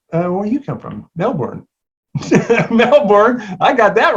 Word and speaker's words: Melbourne: or if you're australian you have to say melbourne that's just my last name is okay